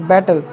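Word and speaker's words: battle: एड टी एल ई यहां पर dear weavers T के पश्चात एल ई आ गया तो यहां पर टी साइलेंट नहीं है तो क्या इसको पढ़ते हैं बैटल पढ़ते हैं बी ए ड टी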